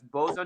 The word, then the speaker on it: boatswain: They pronounce it as boson, even though it's boatswain.